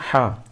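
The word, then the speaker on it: ح: সালাসা সালাসা এবার আসেন হা আমি এই হরফটিকে গুরুত্ব দেবার জন্য বলেছি হা একটু গলার ভিতর থেকে মধ্যখান থেকে হলকের মধ্যখান থেকে হবে হা এরপর আমি জিমের কথা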